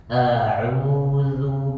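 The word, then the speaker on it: أعوذ: A'udzu billahi minasy syaithanir rajim. A'udzu billahi minasy syaithanir rajim. A'udzu huruf za tipisin sedikit lagi Pak. Huruf za ketika diucapkan lidahnya keluar melebihi gigi seri bagian depan.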